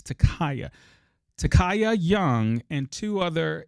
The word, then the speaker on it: Ta'Kiya: Takaya I'm sorry I think I'm saying her name wrong it's Takaya Takaya young and two other individuals were walking